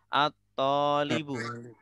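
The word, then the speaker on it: الطَّالِبُ: Ya, bacanya adalah at-tolibu.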